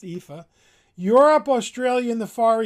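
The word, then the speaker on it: EAFE: created Capital International created the epha that's how it's pronounced epha Europe Australia and the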